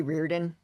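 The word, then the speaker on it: Riordan: That might be I kind of flip between Reardin and Ryarden. I mostly say Reirdan because that's I listen to the audio books and that's how they basically pronounce it like at the beginning when they announce the title.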